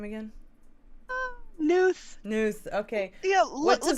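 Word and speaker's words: Knuth: changing professor kevin kunth k-n-u-t-h news news oh it's like night connect the k is silent that made me tear up a little bit um wait pronounce it again newt newt all right so professor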